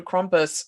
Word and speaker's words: Krampus: but i do want to get back to krompus with the there is a toned-down version of